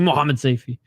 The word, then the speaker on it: Mohammadseifi: I should say Seifi. Mohammadseifi. 5 syllables, ladies and gentlemen.